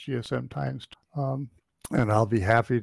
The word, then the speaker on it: GSMx2: gchq um Message Board GSM X2 pronounced GSM times um and I'll be